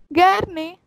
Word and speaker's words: gerne: Gerne. G pronounced in German is ge. So that's why the pronunciation is gerne.